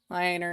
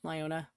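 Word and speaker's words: Lyoner: leona yeah liona sausage i've heard it pronounced both ways lioner and leona i know what they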